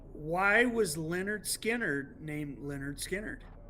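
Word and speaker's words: Lynyrd Skynyrd: This is an English print of pronounced Leonard Skannard, the very first Skannard.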